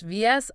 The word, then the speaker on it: vicissitude: Vicitude pronounced visi. That stress on the second syllable sis is crucial.